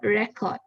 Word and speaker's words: record: thank you so yeah for the first picture record record is the information of data on a